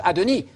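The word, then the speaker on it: אֲדֹנִי: It's not Adonai. It's not Yahweh speaking to Adonai. That would be God talking to God. The universe would collapse. It's Yahweh speaking to Adoni.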